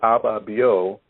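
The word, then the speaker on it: Ababio: let's rise again and abba bio is is spelled a b a b i o and it's a a ghanaian word or i don't a a a khan the akan language because they have many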